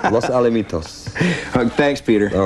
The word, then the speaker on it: Los Alamitos: Paul in Los Alamos. What's that? Alamitos. Well, that's his writing. That's not my pronunciation. Los Alamitos.